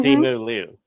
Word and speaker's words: Simu Liu: Simu Liu. Is that how you Yes.